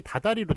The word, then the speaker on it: 다달이: 합성어인데 요게 발음이 다다리로 된단 말이에요.